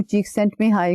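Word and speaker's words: Csikszentmihalyi: जरूर पहुंच जाते हैं यह जब नाम मैं बोलती हूं चीक सेंट में हाई का तो यह बड़ा मुश्किल अगर आप इसको वैसे देखें तो लगता है कि इसको कैसे प्रोनाउंस करें तो शुरू में मुझे भी लगा कि भा यह तो डिफिकल्ट है प्रोनाउंस करना लेकिन भला हो पॉजिटिव साइकोलॉजी की बुक्स का कि उन्होंने इस नाम को तोड़ के जो है वो चार हिस्सों में डिवाइड करके उसकी प्रोनंसिएशन बता दी है तो इससे रिलेटेड एक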